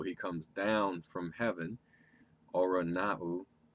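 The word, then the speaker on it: οὐρανοῦ: So he comes down from heaven, Oranau. I think it's pronounced, some people pronounce that Orunus, or Uranus.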